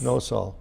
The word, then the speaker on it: Nosal: forgetful okay it's okay so it's yes no soul that's right did I pronounce that wrong you did well I'm a